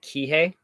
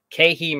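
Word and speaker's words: Keehi: i always say it kihei so i have to tell myself okay he that's how i try to remember to say it right because i always say it wrong keihi marine center in honolulu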